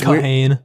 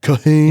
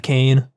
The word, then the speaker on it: Kahane: Yeah, it's Kahane. Kahane. Instead of Kane.